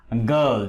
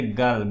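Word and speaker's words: girl: যেমন গার্ল, GIR, এটা গার্ল, গয়ের মতো উচ্চারিত হচ্ছে।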